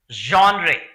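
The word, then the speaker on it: genre: एंड the last one इज जॉनरे। इसकी pronunciation आप देखिए, जॉनरे यानी कि कैटेगरी, श्रेणी जिसको कहते हैं, टाइप जिसको कहते हैं, स्टाइल जिसको कहते हैं।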